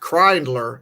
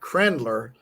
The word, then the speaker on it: Kriendler: And it's pronounced Kreindler, not Krendler.